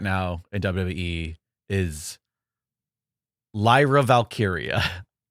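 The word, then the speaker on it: Valkyria: Lyra Valkyia, especially in a world where like Taia Valkyrie is a name in wrestling that we were all familiar with and it's just so close. Yeah. Lyra. Lyra. Valkyia.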